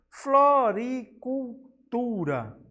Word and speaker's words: floricultura: A palavra floricultura. Podemos ver que o tu é a sílaba com maior intensidade sonora.